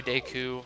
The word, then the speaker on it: Deku: shield and I yes I say deu I I I think it's right even though oh evil